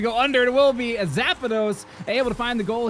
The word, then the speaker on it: Zapdos: It's like you're mispronunciating the legendary electric bird from Pokemon. Zapdos.